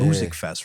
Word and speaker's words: Musikfest: Musikfest, right? Music. Right? That's how they say it.